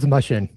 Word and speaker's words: Mushen: Yeah, it's Mushen. Mushen. But Greg any Mushen.